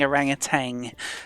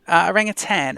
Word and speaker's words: orangutan: of mine is definitely people saying orangutan and pronouncing the G on the end. There's no G, it's tan, orangutan.